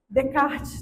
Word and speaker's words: Descartes: que até hoje eu tenho dificuldade com a pronúncia. Bruno, me ajuda. É Descartes? Como é que é? Descartes.